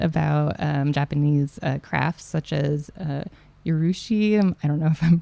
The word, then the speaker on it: urushi: So I got to learn a little bit about Japanese crafts such as urushi. I don't know if I'm pronouncing that correctly. Yeah, urushi.